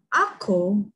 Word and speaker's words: ako: Ako means learn.